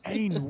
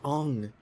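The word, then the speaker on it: Aang: Ain, where have you been? Who? Ain, What? the Avatar. Where's Appa? Dude, it's pronounced Ong.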